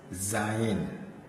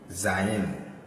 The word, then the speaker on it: zayin: We also have, this one is pronounced as zayin, zayin. So this zayin is a Z sound, zayin.